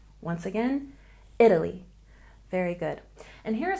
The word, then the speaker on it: Italy: So here we stress the first syllable, Italy, Italy. Once again, Italy.